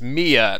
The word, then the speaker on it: Mia: I actually kind of realized when I was going back and editing, but I pronounced it's Mia, not Maya, the girl from before. I kept calling her Maya for some reason, but and now we have a real Maya.